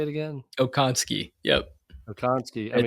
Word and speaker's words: Okonski: Okonski.